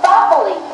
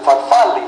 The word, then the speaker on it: farfalle: Farfalle. No, no, you pronounce it farfalle, like a bow tie. Farfalle.